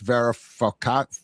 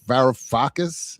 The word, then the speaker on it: Varoufakis: techno-feudalism what killed capitalism book by um Yanis Varoufakis. Varoufakis.